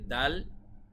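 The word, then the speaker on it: دال: যে হরফটি রয়েছে আরবিতে দাল এই দাল হরফ বাংলার দ এর মতই হুবহু উচ্চারণটি হয় তারপরে রয়েছে জাল এটা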